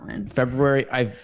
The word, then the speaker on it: February: 1 February Thank You February I used to stay February like everybody else but then I'm like why is that are sitting after the B I got to pronounce it no I get that